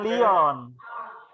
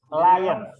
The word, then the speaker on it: lions: Lions are Bukan Leon. Lions. Are fierce animals. Dengerin saya ya. Begini cara bacanya.